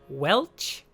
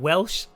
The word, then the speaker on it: Welch: M, Anya the Khajiit, David Welch. I think I said Welsh last time.